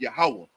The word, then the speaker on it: Yahawah: same way well people when people say Yahweh people are referring to the most high God right and what in the in the actual Hebrew is yahawah so I don't know